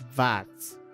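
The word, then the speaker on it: Schwarz: Shvas. Pretty hard to pronounce. Shvats. Pronounce it with a V.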